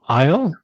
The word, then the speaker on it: Ihle: Isle. Isle. And Yes. Just like the little island, except with an H.